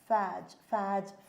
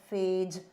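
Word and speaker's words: phage: virus is also called as a faj fage. Okay, however you want to pronounce.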